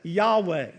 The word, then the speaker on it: Yahweh: And we usually pronounce that Yahweh.